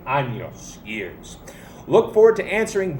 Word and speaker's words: años: of anyone ever so let's remember our tilde cuantos anostenas that goes for the pronunciation too make sure you say annyos annos again you're still saying anus so let's not say anus and let's say anos ears look forward to